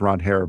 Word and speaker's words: Ranger: That'll be the Saturday game at 1:00 and then Walker Beller will take on Ron Hair Suarez on I'm sorry. That's how he pron That's how you pronounce his name.